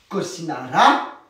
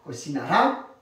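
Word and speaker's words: cocinará: Cocinara, allez, on accentue la prononciation sur la A. Cocinara, carne.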